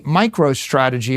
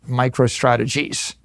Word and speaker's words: MicroStrategy: now I name my company MicroStrategy. Let me tell you, for 30 years, half our customers mispronounced it MicroStrategies.